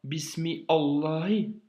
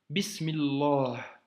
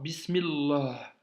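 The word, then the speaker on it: بسم الله: de sourate Al Fati tu ne dis pas bismi Allah tu dis bismillah tu vois bismillah tu l'as fait toi-même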